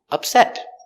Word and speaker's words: upset: If it's a verb, it's pronounced upset. Don't upset him. He's not in a good mood. And upset is an adjective with the stress on the second syllable.